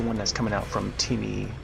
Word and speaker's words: Timi: But I like the one that's coming out from Timmy or Taimai. Timmy Taimai. I want to call him Timmy, like as in Timmy O'Toole. Because the way they spell it is T-I-M-I.